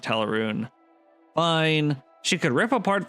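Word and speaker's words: Tel Aruun: She studied under Alfedil in Tel Aaron. That's how you're supposed to pronounce it. I don't I don't like that. I've always pronounced it Tarun.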